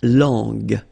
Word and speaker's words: langue: So you get to put this U between the two to get the sound G, G. So you get la langue, langue.